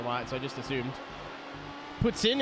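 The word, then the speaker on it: poutine: so I just assumed Puttin is how you pronounce poutin properly you know yeah God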